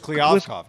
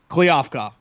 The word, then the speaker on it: Kliavkoff: George Kliavkoff, John. Kliavkoff.